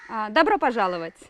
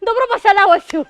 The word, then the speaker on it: Добро пожаловать: Добро пожаловать. അയ്യോ എന്ത് ഈസി. Добро пожаловать.